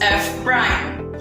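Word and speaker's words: f′: derivative of f is expressed as f apostrophe pronounced as f prime when dealing with function with only one variable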